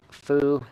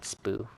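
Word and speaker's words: Foo: Okay, Fu. Not Spoo.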